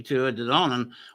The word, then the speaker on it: Tuatha Dé Danann: See, I can pronounce that, okay, Tuatha Dé Danann.